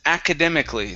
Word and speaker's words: academically: word here okay was academically so instead of ah akka it's a akka academically academically academically that's